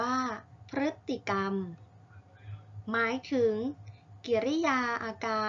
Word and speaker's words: พฤติกรรม: อย่าง คำ กัน ค่ะ พฤ จิ กรรม อ่าน ว่า พฤติกรรม กฎ หมาย ถึง กิริยา